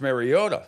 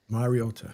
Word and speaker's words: Mariota: It's not Mariota. It's Mariota. Mariota.